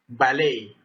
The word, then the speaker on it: ballet: sound word thir initial ballet ballet ballet ballet the t is silent ballet and also remember